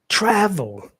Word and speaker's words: travel: We don't say travel, no, we say travel, travel. So the first syllable is stressed.